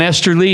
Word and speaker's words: Esterly: Esterly. Hey. And what I like about Esterly, his name when it rhymes with Westerly, which was not the